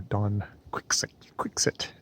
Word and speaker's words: Don Quixote: And I have set my sights upon Don Quixote, or Don Quixote, as the British say, and are saying in